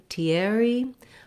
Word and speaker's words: Thierry: In American English, what I could find for the English version or the English pronunciation of this name was more like Thierry.